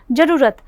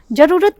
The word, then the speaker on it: ज़रूरत: जरूरत, जरूरत नहीं, ज़रूरत, रू के ऊपर जो है वो ज़्यादा जोर पड़ रहा है।